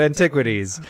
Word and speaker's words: Antiquities: You said Antiquities, and like I said, I shouldn't be the one correcting you.